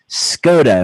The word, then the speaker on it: Skoda: Skoda. Am I saying it correctly? Yes, you are.